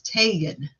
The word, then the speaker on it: Tagan: started calling her Tagan it has an A in her name not an e an A so it's Tagan and I was constantly